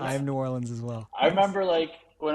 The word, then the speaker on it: New Orleans: New Orleans. We are not a New Orleans show. Okay. We're a New Orleans show. Okay. Yeah, I'm Yes. New Orleans. Okay. New Orleans. I am New Orleans as well.